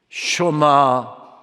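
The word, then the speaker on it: שמע: 그렇게 설계로 시작했 겠지요 슈마 2시로 의 이스라엘아 들어라 그러면서 설교가 시작됩니다 흔히 우리가 아니지 20 년 교육장 말씀을 쉐마 의 말씀 이라고 해서 쉘 뭐 쉐마 합니다만은 정확한 10 리어 발음은 슈마허 들으라 라고 하는 뜻이지요 이것을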